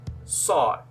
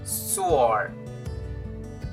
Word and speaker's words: sword: of this word is sword sword okay most people we say sore swore no it's wrong it's like the w is silent so it's going to be sword now repeat after me